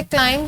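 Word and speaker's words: climb: हम पढ़ते हैं इसे क्लाइम, जो बी है हमारे पास प्रोनाउंस नहीं होता, इसलिए बी यहाँ हमारे पास साइलेंट लेटर है, साइलेंट साउंड है।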